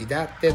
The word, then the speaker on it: 伊達: の名前は伊達政宗、伊達というふうに発音していたことが分かります。